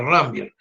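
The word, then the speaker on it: Ranvier: rambier eh nódulos de rambier se pronuncia rambier esto por ejemplo dice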